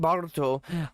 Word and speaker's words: Boruto: I haven't seen Boruto.